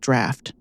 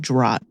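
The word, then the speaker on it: draught: It drove me up the wall because I know it's pronounced draft and I said drought like eight times.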